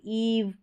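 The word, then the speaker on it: eve: जैसे ईव, these, अब इसको इव या दिस नहीं बोलेंगे, ईव खींच कर बोलना है, लंबा उच्चारण है, दीज।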